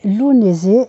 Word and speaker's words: Lughnasadh: Lunzé, c'est la fête qu'on appelle lugnazat, vous savez, avec un orthographe à à coucher dehors avec un billet de logement. Et j'ai trouvé sur l'une de mes sources que la prononciation était lunisé, ce qui me convient beaucoup mieux, c'est plus facile à prononcer.